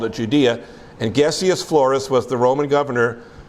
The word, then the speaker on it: Gessius: I think it's Gessius. I think it's a hard G.